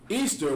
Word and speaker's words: Ishtar: It says, Ishtar, which is pronounced Easter, was a day that